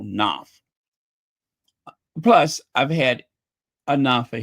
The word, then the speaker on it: Knopf: that includes Jason Knopf, or as some people say Knauf. I just say Jason Knopf. I don't want to waste a syllable mentioning him. I do not want to waste a syllable. I'll just keep it one syllable, Knopf.